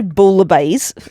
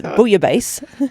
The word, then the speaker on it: bouillabaisse: You don't say bouillabaisse. It's bouillabaisse. Well, don't pronounce the L's.